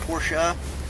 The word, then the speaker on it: Porsche: It's actually pronounced Porsche, but I'm not that big of a douchebag.